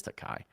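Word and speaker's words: Tokaji: or is it yes I think it's takai because it's like takaji but that's not how you say it it's takai it's a region of Hungary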